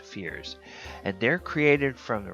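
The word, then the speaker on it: feyr: find is second edition the fear f-e-y-r and it says that they are pronounced fears and they're created from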